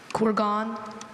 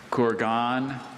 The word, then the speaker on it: kurgan: Kurgan. Could you please repeat the word? Kurgan, Kurgan.